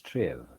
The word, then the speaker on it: strive: here actually the uh word is a strife should be pronounced as triv in order to be rhymed with the last word give yes and what is